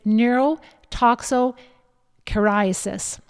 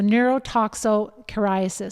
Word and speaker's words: neurotoxocariasis: It's neurotoxocariasis. So neurotoxocariasis.